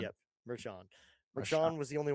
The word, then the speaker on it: Marchand: If I can get that up, his name was Rafael Marcan, I think, if I'm pronouncing that correctly.